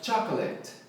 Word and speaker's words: chocolate: Então, a sílaba tônica é o cha. E aí eu falo chocolate, let, chocolate, chocolate. Assim, com o cho na ênfase. A primeira sílaba é o cha, chocolate.